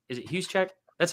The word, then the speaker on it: Juszczyk: It is literally Kyle Juszczyk or am I saying it right? I always say his name right. Is it Juszczyk?